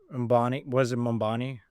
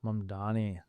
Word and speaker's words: Mamdani: Mambani, the election? Mamdani. Yeah, no one can pronounce his name.